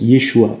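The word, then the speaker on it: ישוע: Jésus en hébreu se prononce Yeshua et signifie sauveur, ou même salut.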